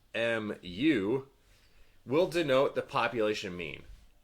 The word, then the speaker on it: mu: For instance, mu, which is pronounced mu, will denote the population mean.